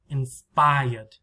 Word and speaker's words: inspired: with the d past is just inspired three syllables where's the stress inspired inspired what is loud spy spy right very loud long inspired repeat inspired and